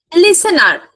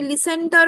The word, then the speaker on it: listener: লিসেন্টার যে কথাটা শুনছে লিসেনার লিসেনার ওই টি টা না উজ্জ্ব থাকে টি টা প্রোনাউন্স তুমি লিসেন্টার বললে বানানটা দেখে লিসেনার ওই টি টা উচ্চারণ হয় না স্পিকার এন্ড লিসেনার সেন্ডার